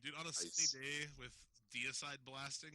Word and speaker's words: Diacide: of changed it and a lot of people pronounce it diocide and they want to punch them in the my butt it's deicide I was in a band called Stone Cloud